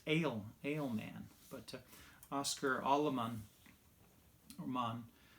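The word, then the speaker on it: Alemán: gentleman's name was oscar aleman and you know i did not know how to pronounce his name i noticed there was the the mark there the accent mark above the a otherwise i would have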